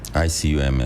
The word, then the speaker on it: ICUMS: ICUMS.